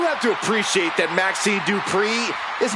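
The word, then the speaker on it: Dupri: Here comes the talented Maxine Dri. Uh, Michael, it's pronounced Dri from Phoenix, Arizona.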